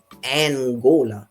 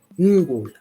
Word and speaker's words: Ngola: his name, that term Angola got its name because the Portuguese mispronounced, misunderstood, and had, of course, all of the attendant racism or what have you of the term Ngola.